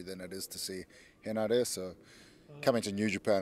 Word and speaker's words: Henare: Henare. So Henare. very, if you pronounce it like a Spanish person pronounces it, it's the Yeah. same.